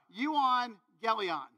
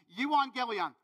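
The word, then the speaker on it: euangelion: be like you are what okay uh so you on Galleon and yes it took me weeks to figure out how to say it okay you want Galleon the good news that's simply what it means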